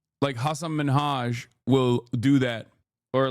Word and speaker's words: Hasan: But that's not how your name is pronounced. It's Hassan. But it doesn't matter. I don't like. I'm telling you right now, it does not matter to me at all. It is Hassan is usually like I think it's like an Arabic pronunciation, right?